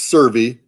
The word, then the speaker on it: SSERVI: kind of like a play yeah yeah it's pronounced survey uh solar system exploration research virtual institute and